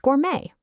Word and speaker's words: gourmet: For instance, think of the word balet. You don't pronounce that t at the end. Same thing with gourmet. That silent consonant is a huge hint.